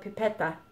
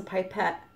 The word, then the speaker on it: pipette: and she used to call it pipette die so it's stuck in my head I know it's a pipette but that's how she pronounced it okay so I'm just